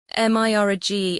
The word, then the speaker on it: mirage: Mirage is pronounced mirage, said Valancy shortly, picking up her tea and her beans.